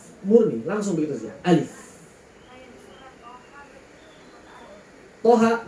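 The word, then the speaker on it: طه: Toha 2 harokat berarti. Di sini kan to sama ha. Toha berarti dia mad tabi'i harfi.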